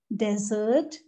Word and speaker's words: desert: is yes dessert dessert there is a subtle difference between these two words in terms of pronunciation meanings are completely different this is about desert this which is sahara